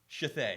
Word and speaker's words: Shithead: Yeah, Shithay. No. The D is silent.